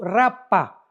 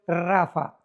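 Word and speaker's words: Rapha: R de Raúl, A de Armando, P de Pedro, H intermedia, A de Armando, Rapa, pero se pronuncia en el hebreo Rafa, porque los refaitas, lo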